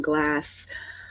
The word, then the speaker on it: Glasse: There's an E on the end of it. We do not pronounce it, but it's like a lot of Gaelic names.